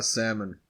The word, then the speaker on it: salmon: in like 2003 uh salmon silent l or no uh I'm gonna go with yes nobody says Sal this really is just